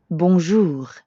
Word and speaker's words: bonjour: Notice how the J in bonjour sounds a lot like the middle of the English word measure? Je. Je. Bonjour. And the R at the end of jour doesn't really sound like an English R. You should feel that R in your throat. Jour. Yeah, almost like you're gargling or clearing your throat.